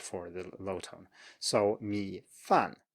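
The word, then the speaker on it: 米饭: 米饭, 米饭, just low and then falling. 米饭. And this is a good opportunity to compare this because, as you can see, the low tone is actually falling a bit too. 米饭, you start low and you go lower, as it were. But 饭 starts all the way from the top and goes all the way down.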